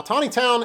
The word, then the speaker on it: Taneytown: Now, Tawny Town is spelled differently than it's pronounced.